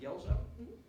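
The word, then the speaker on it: Guelzo: So if Professor, his pronounced Gelzo, is in hearing distance, and you have time, you go to read his book.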